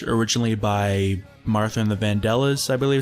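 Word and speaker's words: Vandellas: in the street originally by martha and the vandela's i believe it's pronounced but eddie couldn't figure out how to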